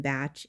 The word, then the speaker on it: Bach: Edward Bach. They call him Bach in England, but I'm pretty sure it's pronounced Bach.